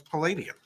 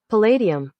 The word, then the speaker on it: palladium: how do you pronounce palladium ready yeah so i'm saying palladium what did i say palladium yeah like a uh lad and i can already tell you it's lady well give me a